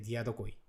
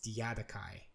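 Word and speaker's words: Diadochi: Yeah, in Japanese we say like a diadokoi. I think it's closer to a Greek pronunciation. Okay. But in English it's Diadokai.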